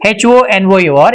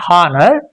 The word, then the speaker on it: honor: And if you take a look at this word H O N O R, it's not honor, but it's very common.